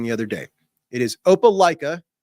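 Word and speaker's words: Opelika: a Georgia fan who corrected me on the pronunciation I was using the other day it is opala not aala opaa opaa Alabama and their logo is a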